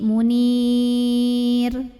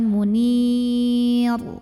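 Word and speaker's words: منير: sebelumnya Ya Sukun ya Jadi kalau berhenti Munir tipis Jadi bukan Munil bukan nggak usah ditebelin karena huruf sebelumnya Ya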